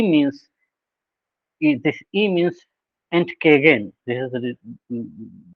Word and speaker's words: Entgegen: And this is pronounced as Entgegen.